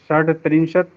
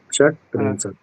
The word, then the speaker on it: षट्त्रिंशत्: द्वात्रिंशत् त्रयस्त्रिंशत् चतुस्त्रिंशत् पंचत्रिंशत् षड्त्रिंशत् इसमें सप्त डा को टा हो जाएगा, षट त्रिंशत, षट, अच्छा ट होगा यहाँ पे, डा नहीं हो पाएगा। अच्छा ड नहीं, षट्त्रिंशत् त्रिंशत् सप्तत्रिंशत् अष्टत्रिंशत् अष्ट अष्ट नहीं, अष्टा।